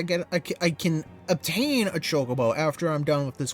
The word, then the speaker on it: chocobo: that also reminds me i used to pronounce chocobo like kookabu yeah not only did i